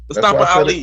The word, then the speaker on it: Mustafa Ali: Yeah, pronounce that man. Show that man name with some respect, yo. Mustafa Ali.